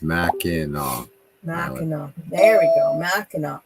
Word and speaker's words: Mackinac: got away lots of snow yeah yeah yeah pronounced mac in uh there we go mackinac island thank you